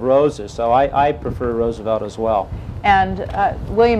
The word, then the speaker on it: Roosevelt: Roosevelt is Dutch for a field of roses. So I I prefer Roosevelt as well.